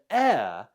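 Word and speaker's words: heir: it correctly of course it's a silent h at the start of the word a all right the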